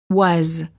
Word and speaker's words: was: have a final s the s is pronounced as a z and not was is as his hers has